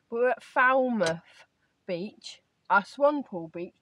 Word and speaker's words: Falmouth: It's not Falmouth, like potty mouth. David keeps taking the mickey at me because I keep saying it wrong. But we're at Falmouth Beach, a swan pool beach to be more specific.